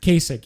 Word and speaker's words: Kasich: Casey Howard, the fuck you pronounce that dickhead's name? Kasich, yeah.